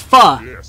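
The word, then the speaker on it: phở: A lot of people would think it's pho, but it's not, it's pho.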